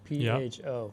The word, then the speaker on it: pho: PHO, pronounced pho.